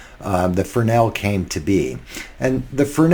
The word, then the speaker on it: Fresnel: Fresnel stage light, which is how that's pronounced, Fresnel, has been a backbone of stage lighting for since the dawn of electricity almost.